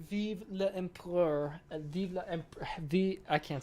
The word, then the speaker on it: Vive l'Empereur: We don't pronounce the E, so it's like Vive l'Empereur.